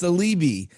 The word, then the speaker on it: Saleebey: your last name you're good yeah it's it's celibi it's a lebanese last name and most people don't know how to pronounce it so so great to be with